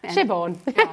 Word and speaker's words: Siobhan: Shivon.